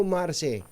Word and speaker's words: Mars: pag-asa at kumusta na ano ba pronunciation dito Mars o marce Hello po Magandang umaga ah Veronica Ano ba ang pronunciation dito Mars o marse Opo ah ang ginagamit po nating pronunciation ay marse po marce o ito be pangalang